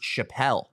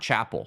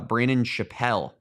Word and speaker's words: Chappelle: I guess it's pronounced Chappelle not Chapel so it's it is uh Brandon Chappelle Love that. Uh the pronunciation on the Texas website says like Dave Chappelle.